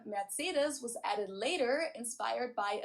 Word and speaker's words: Mercedes: Um, so most Americans call this Mercedes. Mercedes. German we pronounce it Mercedes.